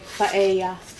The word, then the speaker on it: paella: Ang pronunciation po paella. Mare. Kasi Spanish.